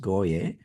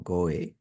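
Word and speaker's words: גוי: In the scriptures, the word heathen is pronounced goye or goe, and that is the root word, and that's the number for Strong's.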